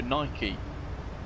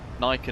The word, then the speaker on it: Nike: But also Nike. Nike and Nike pronounced very differently.